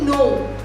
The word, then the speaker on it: know: हम कहते हैं ना I don't know, उसकी स्पेलिंग क्या होती है?